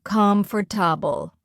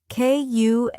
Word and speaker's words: comfortable: Wrong. Comfortable. Correct. Kumftubul.